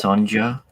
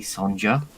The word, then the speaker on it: Sonja: Sonia Comics yeah yeah I think it's pronounced Sanja just you know it's it's it's very ethnic yeah I know I've seen I've seen her the castle sorry I've seen who they've cast it's clearly Sanja another another Ginger side